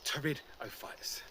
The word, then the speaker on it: Pteridophytes: put in a group called the Pteridophytes, spelt with a P. Go figure.